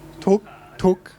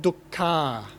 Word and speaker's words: dukkha: you how would you say that in Thai talk talk circle - okay so that is okay that's Thai pronunciation it's fine if you understand the meaning but look at the word we have duck car now that ending our has a particular meaning